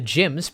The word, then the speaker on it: GM: mass production type the gyms pronounced GM or spelled GM St